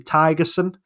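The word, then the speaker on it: Thygesen: been told it's actually tigerson uh is his name the the H in it is uh is silent um he is from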